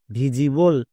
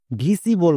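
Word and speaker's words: visible: হবে যেমন ভি আই এস Vij plus able ভিজিবল একে অনেকে ভুল করে ভিসিবল বলে বাট ভিসিবল উচ্চারণ করা চলবে না এর উচ্চারণ হবে ভিজিবল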